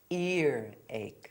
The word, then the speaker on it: earache: There's no H before ear and there's no H before ache. So it's earache, earache.